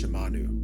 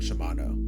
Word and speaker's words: Shimanu: Um, I hate to bring this up, but my name is Shimanu, not Shimano.